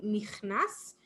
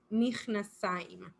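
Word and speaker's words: מכנסיים: We don't really say pants in singular, even though some people might say michnas, but the correct form to say this is michnasaim.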